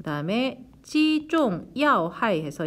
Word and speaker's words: 击中: 그 다음에 击中要害 해서 이때 中은 사성 발음하셔야 돼요.